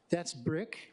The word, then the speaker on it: Brick: That's Brick, pronounced like brick, like don't throw that brick at me, which does apply to this session today.